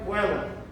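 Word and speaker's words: caelum: Apesar de estar escrito caelos, se pronuncia coelum.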